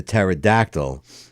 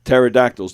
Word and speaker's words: pterodactyl: didn't you hear the pterodactyl go to the bathroom cuz the p is silent cuz the p is